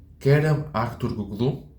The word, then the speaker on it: Kerem Aktürkoğlu: Kerem Aktürkoğlu. I know. I think I butchered his name. Kerem Aktürkoğlu. That's right.